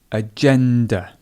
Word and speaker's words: agenda: So again, here we have a schwa sound, this agenda.